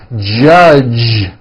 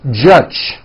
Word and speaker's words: judge: the word judge as judge turning that last sound into an unvoiced CH judge and that is not right the J sound in American English is always voiced judge like that for